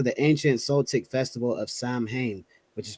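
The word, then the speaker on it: Samhain: date back to the ancient Celtic Festival of Sam Hayne which is pronounced saline the salts who lived two thousand years ago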